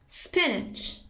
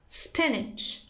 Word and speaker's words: spinach: You can say spinach. Spinach. Or spinach.